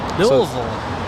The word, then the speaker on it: Lille: David Hibert helping us uh with that pron pronunciation of Lille Lille that's how Captain k told me to say